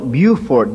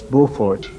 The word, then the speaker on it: Beaufort: south carolina called beaufort they call it buford down there but it's beaufort that's the french pronunciation and the pastor there